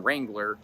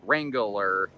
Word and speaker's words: Wrangler: I sometimes manage to put an extra syllable in Wrangler to make it Wrangler, and I'm not exactly sure how I do that, but like athlete.